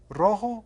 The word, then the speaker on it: rojo: Rojo o verde? Tell the teacher your answer. 1, 2, 3. Es rojo. Rojo. And you get a chance to roll your R there.